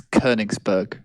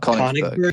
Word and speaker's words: Königsberg: By the way, before anyone else jumps in, it's Königsberg, guys. Not Königsberg. Yeah, it's Königsberg. no. It's got an umlaut.